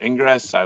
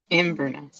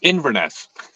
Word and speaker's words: Inverness: Park but uh I love the course in Ingress uh ingerness Inverness Inverness I should probably know how to pronounce the name of the town I went